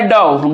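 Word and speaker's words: dough: इसमें एस क्या साइलेंट है। और पांचवा नंबर में जो हम लोगों का लिखा हुआ है डऊ।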